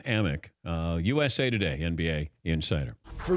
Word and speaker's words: Amick: time thank you Sam amick but he's been mispronouncing his name so it's Sam ammok USA Today NBA insider